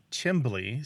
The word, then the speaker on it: chimbly: with me that pronunciation the c h i m l y and another one chimbly c h i m b l y are both really common in the United States and they're often looked